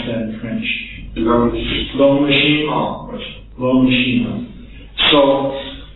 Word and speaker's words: L'Homme Machine: How would you pronounce that in French? L'Homme Machine.